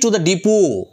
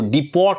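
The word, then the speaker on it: depot: from ারি proceeded লিজারলি ডিপো উচ্চারণটা কিন্তু হবে ডিপো ডিপ নয় ঠিক আছে ফ্রম য়ার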